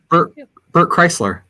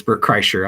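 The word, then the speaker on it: Bert Kreischer: um that sounds uh like bert chrysler actually it's bert kreicher i just like saying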